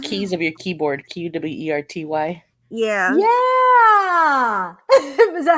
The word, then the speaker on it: QWERTY: QWERTY, or is that how you say that? QWERTY? Kapow! Oh wow, thank you. Very nice. QWERTY That's is the very first wow. keys of your keyboard. QWERTY.